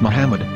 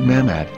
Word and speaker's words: Muhammad: Ben yehuda's Hebrew English dictionary it is correctly pronounced as Muhammad not mammad so how we're going to know for sure